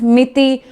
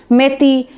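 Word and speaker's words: Meitei: So between मिती एंड मेती you can just pronounce it as miti, meti, meiti, okay.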